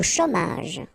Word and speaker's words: chômage: Au chômage. Remember, CH together. Ch, chômage.